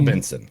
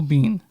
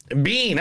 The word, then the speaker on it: Biehn: Michael Benson. Michael Biehn. Bean. Oh, that's it. I thought it was Benson.